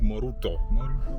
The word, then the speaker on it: Moroto: Right, so we head to Moroto now. Moruto. They pronounce it Moruto.